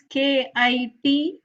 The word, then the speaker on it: kitsch: The spelling is Kitsch, but the pronunciation is kitsch, like a Kich, kitsch, like a rich, kitsch kind of thing,